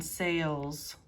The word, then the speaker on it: sales: So you can hear the A sound in sales, and then the short E sound in sells. A salesperson sells clothes.